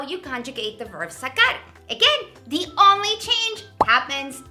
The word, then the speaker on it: sacar: That C, it's a hard C, sacar. And if you look at the rest of the conjugations, we have sacaste, sacó, sacamos, sacastes, and sacaron.